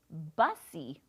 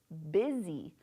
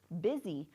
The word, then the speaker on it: busy: If we were to sound it out, it looks like bussy, right? Bussy, but is bussy a word? No. This actually means, the actual pronunciation is busy, busy, but it doesn't look right, right?